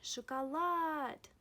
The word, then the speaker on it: шоколад: Again, шоколад.